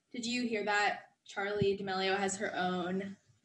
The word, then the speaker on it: D'Amelio: She was saying D'Amelio. Like, there was a period there. Charli D'Amelio. Yeah. But it's D'Amelio, and I see that now.